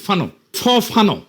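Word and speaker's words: Fanon: ফরাসি আলজেরিয়ান চিন্তাবিদ ফানো নাম আসল উচ্চারণটা।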